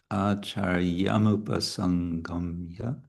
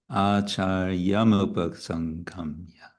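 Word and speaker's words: आचार्यमुपसङ्गम्य: Acharyamupa, let's see, acharyamupa sangamya, sangamya. Yeah, that's slow also, gamya. Acharyamupa sangamya. Yeah, so acharyam, and there's no pause there. It's not acharyam upasangamya. It's acharyam upasangamya.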